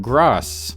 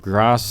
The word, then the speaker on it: Gross: And this innocuous little koala show introduced me to Yoram Gross. I've heard it pronounced both Gross and gross, but I'm gonna go with Gross.